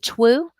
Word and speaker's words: two: We think that probably this word over time, the pronunciation shifted, and we probably used to say twu, but the number two is a very old word in English, and pronunciation can shift over time, but that spelling has remained the same.